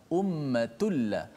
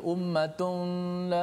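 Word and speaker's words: أُمَّةٌ: Tanwin berjumpa dengan lam. Lam adalah huruf idgham bila gunnah. Maka cara baca itu, tanwin tu dimasukkan dalam lam secara total. Maknanya tidak ada lagi tanwin nun tu. Ummatun dah tak ada dah. Tak boleh baca ummatun la, tak boleh.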